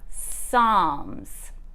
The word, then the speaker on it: Psalms: weird it's actually pronounced psalms the p is silent and the l doesn't make its regular noise don't ask me why